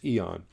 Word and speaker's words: E.ON: So it's E.ON.